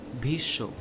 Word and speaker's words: Bhishma: Also take the example of Bhishma in Hindi. This is pronounced as Bhishyo.